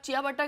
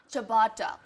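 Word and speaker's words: ciabatta: देखो, अगर आप चिया बट्टा करके बुलाओगे तो पता नहीं तो how do you वो pronounce देंगे it? भी नहीं आपको. तो कैसे प्रोनाउंस करते हैं इसको? चबाटा. चबाटा. चबाटा bread. It's और एक चमाटा मार देंगे. चबाटा. It's चबाटा. First time I swear on you.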